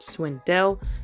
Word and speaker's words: Swindle: so they had gotten swindled that's the name of the guy his name is Swindle but it's pronounced Swindell that's the funniest joke